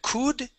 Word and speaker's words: could: So remember, on this word, that O-U-L does not make an U sound. It's an U. Okay, and the L is silent.